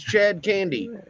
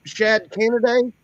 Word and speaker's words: Chad Candy: come up here and I tell people my name's Chad candy and they're like Shad candid and I'm like Chad candy c h a b